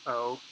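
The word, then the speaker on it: を: the letter gnaw o this is often written as w o but it's always pronounced oh and this letter actually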